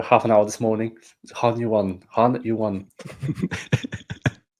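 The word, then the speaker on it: Hunyuan: yeah exactly for half an hour this morning Han you won Han you won right anyway and as I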